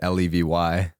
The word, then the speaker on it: Levy: It's Levy.